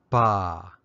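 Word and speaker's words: ပါ: the way of review the polite particle is pronounced ba or more often ba it's used in speech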